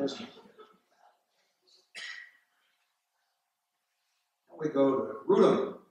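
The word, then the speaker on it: Wrotham: Now we go to Rutham, which is spelled like Rotham, W-R-O-T-H-A-N, but pronounced Rutham in Kent in the southeast.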